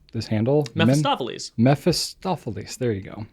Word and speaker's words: Mephistopheles: So I also don't know how to pronounce this handle. Mephistopheles. Mephistopheles.